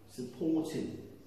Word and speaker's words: supporting: From that word, middle syllable is stressed, port, supporting.